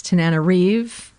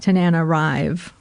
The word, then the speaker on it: Tananarive: We have learned that it's Tananarive, not Tananarive, which is how I had been pronouncing it.